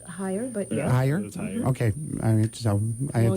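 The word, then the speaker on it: Hier: Pauline Bruce is our treasurer and the secretary is Vicky Har. H I E R. Is that the way it's pronounced? Higher, but okay.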